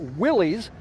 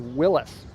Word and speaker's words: Willys: Also, although most people today pronounce it Willys, if you go back in time, the actual correct pronunciation is Willis. I kind of go back and forth on it because although I know Willis is correct, Willies is just like so